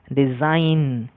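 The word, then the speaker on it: design: যেমন ডিএসআইজিএন, আইজিএন শেষে আছে, উচ্চারণ হবে ডিজাইন। জি এর জন্য গ আসবে না, ডিজাইন।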